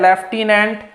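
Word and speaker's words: lieutenant: आपको याद रखना है लिखा जब पढ़ा जाता है लेफ्टिनेंट लिखा जाता है लियु ने इस पहलू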